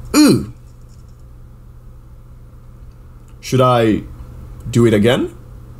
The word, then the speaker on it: Â: How do you pronounce A and I circumflex? Ooh.